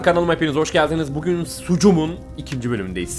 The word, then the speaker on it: SCUM: Bugün Sucum'un ikinci bölümündeyiz. Scam diye okunuyor. Ben Sucum diyorum.